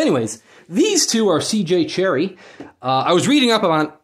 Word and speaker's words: Cherryh: 000 in gehenna by cj cherry silent h this should be like